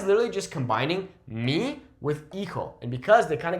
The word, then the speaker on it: hijo: Hijo or hija. Remember that in Spanish, we don't pronounce that H, okay? If it's coming at the start, we don't say hijo, we say hijo, okay?